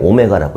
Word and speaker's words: 오메가: 약간 W인데 좀 동글동글하게 생긴 기호고, 얘를 오메가라고 읽어요.